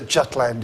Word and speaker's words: Jutland: Sorry, Jutland? Well, I'd say Jutland. Know exactly what the Scandinavian Jutland or something like that, Jutland or something like that. But we all say Jutland.